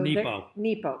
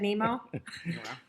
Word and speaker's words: Nepo: So Nepo. Mark Nepo. Did I say it wrong? Of Nemo. course. I said Nemo.